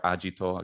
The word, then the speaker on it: agito: or to do and agitor ajito ecclesiastical pronunciation um if that that